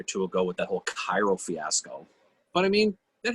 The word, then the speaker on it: Cairo: talks about during the civil war it is pronounced cairo yeah i know it is i mean we